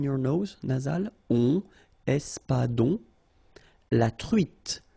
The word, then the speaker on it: truite: nose, nasal, on, espadon, la truite, same thing here, final E not pronounced, T, la truite, le maquereau.